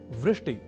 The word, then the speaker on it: वृष्टि: पर कभी-कभी हम में से कुछ व इस अक्षर का उच्चारण ब के रूप में कर दिया करते हैं और वे भूल जाते हैं वृष्टि या वृष्टिह।